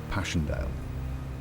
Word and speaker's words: Passchendaele: but also because of its unusual and poetic English pronunciation, Passchendaele.